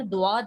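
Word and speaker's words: ضاد: वहाँ दोनों जगह पर दुआद है. यस, दुआत का प्रोनाउंसिएशन अरबिक में जो है ना वो दुआद ही है. द और उर्दू में हम उसको ज़ौ पढ़ते हैं.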